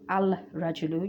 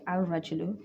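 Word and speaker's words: الرجل: If you see that, then the Alif Lam is not pronounced and the letter is joined like Al-Rajulu. You don't say Al-Rajulu, you say Al-Rajulu. The Alif is joined onto the Ra, and you have Tashdid,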